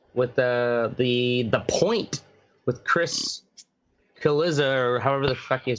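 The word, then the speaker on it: Cillizza: the point with Chris Kaliza, or however the fuck you pronounce his name. Looks like Godzilla, but with a C.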